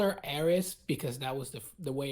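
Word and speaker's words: Aeris: mean I call her arias because that was the way it was spelled originally I don't care it was an error I pronounce the S because it had an S at the start of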